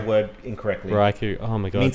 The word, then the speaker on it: Raikou: That's why you never And make fun of someone who pronounces Right. the word incorrectly. Raikou.